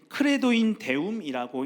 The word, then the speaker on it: Credo in Deum: 이거는 이제 크레도인 데움이라고 읽는데요. 여기서 사용된 나는 믿습니다라는 의미를 지닌 크레도라는 단어는 두 단어로 이루어진 합성어입니다.